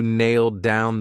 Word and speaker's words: nailed down: So because I have a D sound on down, and these two go together, I'll pronounce it as one, and you'll only hear one D sound nailed down.